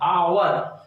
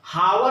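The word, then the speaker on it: hour: प्रथम अक्षर कॉन्सोनेंट है लेकिन उच्चारण जो इसका वॉवेल है, आवर, हावर नहीं पढ़ते हैं, आवर, तो अ, तो क्या हो जाएगा एन, एन आवर।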